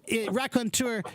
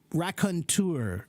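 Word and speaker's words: raconteur: that's all yeah okay and this word rakontur it's similar to the word entrepreneur it has the e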